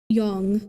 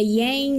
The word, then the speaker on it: yang: to things with um yong is Chinese pronunciation if you want to be okay. I thought so cuz I I don't know. I hear it both ways so I'm like, "Yeah, yang."